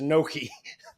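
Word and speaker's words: gnocchi: up by the way do you pronounce it Noki it's so this is going in the weeds but GN makes almost a why sound y yeah I know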